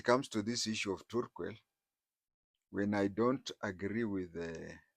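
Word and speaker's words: Turkwel: They pronounce it as Turquel, but you'll find we non-Turkanas call it Tarquel, but the pronunciation is Turquel.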